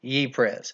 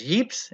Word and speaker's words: Ypres: that's they're attacking Ypres now that name is usually pronounced all sorts of different ways my pronunciation is what I was told from one of my listeners on history according to Bob who lives there ye pres it's been pronounced as heaps it's been pronounced as York but one of the